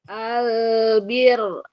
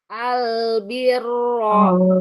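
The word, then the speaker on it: البر: iya kohair kiro heehir Albir albir albirro albirro. Sekarang wakafkan albir. Nah, gitu. Kalau waqaf rnya jadi tipis. Iya. Kalau wasal rnya tebal.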